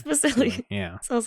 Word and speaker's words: Vasili: They couldn't pronounce Vasili Key, but they couldn't pronounce Vasili.